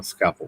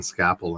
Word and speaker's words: Scapple: actually laid out in Scapple initially. Okay. And is that spelled like scaffolding? It's SC Apple. Scapple. Scapple. Gotcha. SCAPPLE. Okay. Okay. Like Scrapple, but without the R.